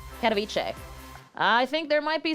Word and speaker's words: Katowice: I'm seeing in here that you're wrong on the pronunciation. What am I, on Katowice? Who is saying it? Katowice. Katowice.